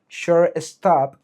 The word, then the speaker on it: shortstop: inglés y español, porque en inglés la pronunciación correcta sería shortstop pero nosotros aquí lo que decimos es siore to.